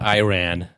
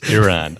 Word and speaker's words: Iran: he's on it um Iran are really mad at him it's it's not Iran it's Iran I can't believe that